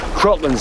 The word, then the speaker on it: Kraken: I don't think it's Kraken anyways. Always heard it said Kraken. Well, we always pronounce it Kraken. No. Crocland's how it's pronounced in the original Scandinavian. But what happened was Kevin McNally was the first character to actually speak the name of it, and he pronounces it Kraken. The Kraken.